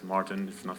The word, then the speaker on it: Maarten: I'm Maarten, which is a very Dutch name, but I think you can pronounce it as Maarten.